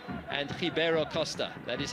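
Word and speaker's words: Ribeiro Costa: going to be interesting to see it's it's hio Costa and aende and those are in fact the correct pronunciations of those two players names in case you're wondering why I'm not saying Ribera Costa and alende it is aende and hio Costa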